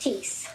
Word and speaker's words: Thies: and your last name is spelled Thies, That's correct. but pronounced Teese.